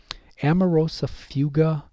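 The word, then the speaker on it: amaurosis fugax: out for this one amarosa fuga that's the way it's pronounced it's called shade drawn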